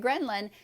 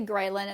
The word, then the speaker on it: ghrelin: then we know that greenland some people say ghrelin it's pronounced different ways actually increases appetite we